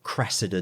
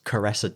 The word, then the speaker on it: Cressida: classic clip when uh a guy is meant to say cressida dick as an answer crestor dick the commissioner of the met police and he mispronounces it as caressa dick oh that's yeah yeah